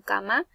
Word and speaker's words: camarón: La mayor fuerza de voz recae en la ron y lleva tilde porque es una palabra aguda y termina en N. Todas las palabras agudas que terminen en N, S o vocal van a llevar tilde.